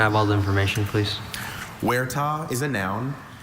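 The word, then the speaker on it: huerta: Any alternate pronunciations? I have just the one. Wera.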